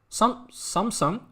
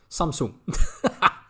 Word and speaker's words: Samsung: feel good thank you it's pronounced sun not soon samsung i was like samsung really i had no idea that that's probably then my dutch accent samsung i didn't know that